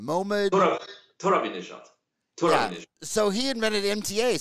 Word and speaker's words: Torabinejad: Mohammed Torabinejad.